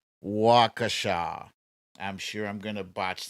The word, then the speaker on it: Waukesha: let's see wakasha ah thank you jamie it's the pronunciation is wakasha i'm sure i'm gonna